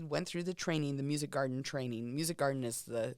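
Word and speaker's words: Musikgarten: Well, how about instead what's Music Garden? Am I pronouncing that right?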